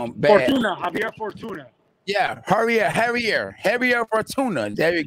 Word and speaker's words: Javier Fortuna: Right now you actually at the fights, the big fight, Ryan Garcia versus, I always pronounce his name bad. Javier Fortuna.